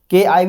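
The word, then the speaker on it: chi: वाला चाय नहीं है ये काय पढ़ते हैं सी एच आई काय पढ़ते हैं के आई भी बो सकते हो इसको चाहो तो के आई भी कह सकते हो काय ठीक है सीच आई स्पेलिंग में लिए प्रोनंसिएशन किया जाता है तो हमारे पास क्या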